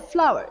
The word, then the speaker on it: flour: okay here we have some words which have the same pronunciation but different meaning here we have the word flower flower and flour the first one here